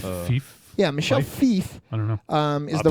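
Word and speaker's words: Michel Fiffe: think it's Michelle yeah Michelle F fief yeah Michelle fief I know um is the writer artist of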